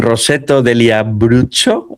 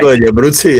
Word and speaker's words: Roseto degli Abruzzi: This is being run in Roseto degli Abruzzo. Have I said it right? Roseto degli Abruzzi, on Italian.